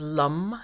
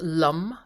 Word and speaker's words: Lam: the seed sound is lum it's spelled lam but it's pronounced lum sort of a little bit rounded like that the animals linked with